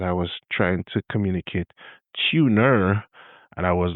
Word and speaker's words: Tuner: There's a film that is out and it is called Tuner, t u n e r, but the way I pronounce it is tuna.